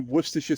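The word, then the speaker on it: Worcestershire: Yeah, I taught my children the proper way to say worish sauce and aluminium foil. Do you know the beautiful thing about worersha sauce?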